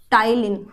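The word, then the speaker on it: ptyalin: टाइलिन। ठीक? अब आप ये मत बोलना मैम लिखा तो पी एल टी रही हो। तो पी इसमें साइलेंट होता है। हम प्रोनंसिएट करते हैं उसको टाइलीन।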